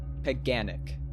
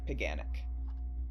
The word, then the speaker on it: paganic: piganic cuz I know it's uh pronounced pagan. Paganic. Yeah, paganic. Chanting an anguished ode at the paganic useless rituals attempted at solving her depression.